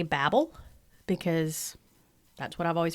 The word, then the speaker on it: Babel: I say Babel because that's what I've always heard is the Tower of Babel. And I did research this, and it's a difference between, English pronunciation and American pronunciation.